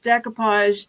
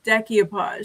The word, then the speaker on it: decoupage: Not saying this any any with any disrespect, but she pronounces decoupage deck-ee-oh-podge. She adds an extra syllable to it.